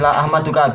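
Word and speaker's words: لا أحمدك: albukhi la ahmaduka iya ya bacanya ini la ahmaduka Bi Alha Al muhmalah hak yang tidak ada titiknya yaitu H bukan k Wal mim mimnya juga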